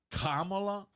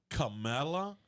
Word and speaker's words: Kamala: to say her name is her name like Kamala camela like I always thought it was like instead of you saying Pamela right you just stick a K in front of ITA right or is